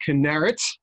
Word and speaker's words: Kinneret: I learned how to pronounce his camp today. It's Kinneret.